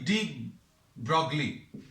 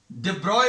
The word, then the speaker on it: de Broglie: डेब्रॉय बोलते हैं इसको अभी हम लोग ऐसा प्रोनाउंस करते हैं डेब्रॉय, है ना. लेकिन अभी हम ये डी ब्रॉगली इसलिए बोलेंगे क्योंकि स्पेलिंग्स आपको याद रहेंगी. ये इसका प्रोनाउंसिएशन है. This is नॉट the correct spelling. है ना। तो करेक्ट स्पेलिंग ये है, इसका प्रोनाउंसिएशन जो है कैसा रहता है, डिब्रॉय।